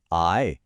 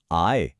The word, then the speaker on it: 爱: এর উচ্চারণও আগেরটার মতোই আয়, কিন্তু স্বর বা টোনটা একদম আলাদা। এখানে স্বরটা বেশ জোরের সাথে ওপর থেকে নিচের দিকে নামবে। আয়। চলুন একসাথে চেষ্টা করি। আয়।